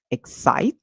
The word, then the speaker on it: excite: it says s so we have X that same rule that we apply for state and we apply for unite where the e at the end is silent and the I makes the song where it calls its name so therefore we'll say x i I and T and then excite so our word ends